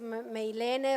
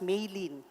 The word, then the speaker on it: Milena: thank you Adriana actually my name is pronounced as Mei Lin so please omit the e at the yes please